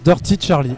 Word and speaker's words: Dirty Charly: Eh ben ça se prononce Dirty Charlie.